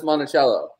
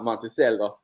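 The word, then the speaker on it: Monticello: But that's that's Montichello. It's not Monteello.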